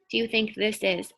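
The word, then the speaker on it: hay: those pictures this one is a little bit tricky but look here what's happening you can also say i viento like i on your face i but it's spelled h-a-y so if you will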